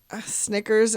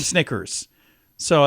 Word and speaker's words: Snickers: had a horse name Snicker so that's pretty cool um let's see and they also said they learned the word Snickers rhymes with nickers so that's called that's